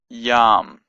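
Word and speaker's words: ים: We have a yod and an sound and a mem, final mem. So that's y with a sound and a mem. So it's yam, yam. And yam means sea.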